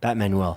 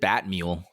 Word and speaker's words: Batmanuel: Batmanuel, sorry. The Did I say manual? You said Batmule. I heard Batmule. Did I say Batmule? Yeah, I think so.